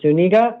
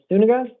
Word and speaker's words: Zuniga: Mr. Zuniga or Sunniga. Go, sir. Sorry, I hear both pronunciations. I'm never sure which a person likes to use. What's your name, sir? Uh, Seo Zuninga.